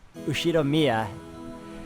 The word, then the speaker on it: Ushiromiya: I always think that the last name is pronounced Ushiro or something, but it's Ushiromiya head house for many years.